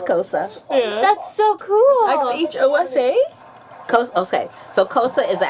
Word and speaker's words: Xhosa: And they spell it Xhosa, but Yeah. it's pronounced Kosa.